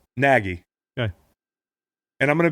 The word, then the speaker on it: Nagy: Says it can be Nagy, Nagy, or Neggy. And his play sheet, it says on there, BU. He doesn't even know who he is. Man, listen, I like the guy. How do you say his last name? Nagy.